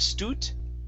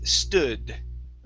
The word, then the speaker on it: stood: Okay, instead of stoot, it's stood. Stood.